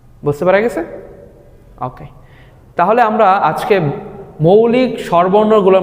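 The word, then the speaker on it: ㅗ: ওকে, এরপরে আমরা যেটা দেখতে পাচ্ছি সেটা হচ্ছে একটা আনুভূমিক দাগ, তার উপরের দিকে আরেকটা দাগ, ঠিক উল্টো টি এর মতো, তাই না?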